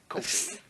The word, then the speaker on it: Kofi: coffee in a minute. No, wait. How you say it? Coffee. Coffee? No, Kofi? Kofi. Oh, excuse me, Sonny Sofrito. Kofi. There we go.